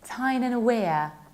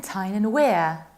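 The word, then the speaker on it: Tyne and Wear: That's why the county is pronounced like Tyne-and-Wear. And we can think of a sentence, it's so weird in Tyne-and-Wear.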